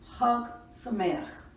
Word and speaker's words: Chag Sameach: Number 3, Ha Sameach, pronounced Chag Sameach.